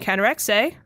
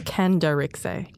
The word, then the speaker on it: Khandharixay: Production assistant Khandharixay. G'day. Did I say it right? It's actually Khandharixay. Khandharixay.